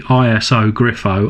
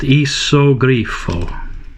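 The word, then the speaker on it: Iso Grifo: The Isogrifo, or not the ISO Griffo, I think that I called it in my original video from about a year and a half ago, but I believe it's pronounced Isogrifo.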